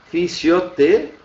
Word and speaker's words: fisioterapia: Agora, a pronúncia dela é fisioterapia. Sobra aqui a sílaba tônica. Então, fisioterapia. Lembrem-se que indica, ó, todas as palavras que terminam em terapia em português acabam sendo terapia em espanhol, tendo alterado a sua sílaba tônica.